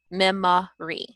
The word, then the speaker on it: memory: So if you have a word like memory, instead of saying memory, they may say memory. Okay, so your O sound is actually the schwa, memory.